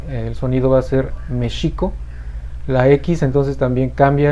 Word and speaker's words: México: el español se pronuncia méxico es una palabra esdrújula que se acentúa en la e la equis va a sonar como jota entonces tenemos mexico y